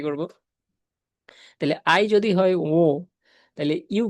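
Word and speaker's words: 我: তাইলে ও এর উপর একটা স্ট্রেস হবে।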